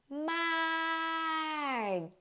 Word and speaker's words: มาก: First of all ค่ะ when กอไก่ or K as ending, you do not release the final sound.